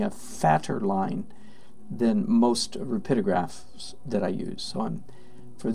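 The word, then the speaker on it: Rapidograph: rapid rapid Oh graph sometimes mispronounced rapidio graph by people that are not very linguistically sophisticated its rapido graph and they're Pitta graphs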